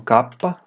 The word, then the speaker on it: kappa: Depois temos o kappa, cuja pronúncia é igual ao K.